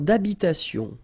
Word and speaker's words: d'habitation: Une tour d'habitation. Remember, H doesn't exist in French, well, in most of the cases, so it does mean that you don't pronounce it, all right?